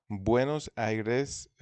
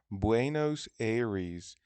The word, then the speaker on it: Buenos Aires: نکته اینجا تلفظ بوئنوس آیرس توی اسپانیایی اینجوریه، ولی توی انگلیسی میشه بوئنوس ایریز.